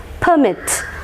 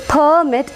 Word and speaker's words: permit: Longs sound it is permit and here it is permit and stress will be marked on the second syllable if it is a verb and it is a